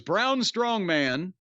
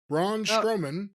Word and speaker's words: Braun Strowman: Fatu and his opponent by the way was brown strong man Braun strowman yeah that's sometimes people mispronounce it that way and yes he's been